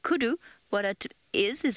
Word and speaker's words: kudu: So when I'm saying kudu, what it is it's a word that is spelled K-U-D-U, kudu.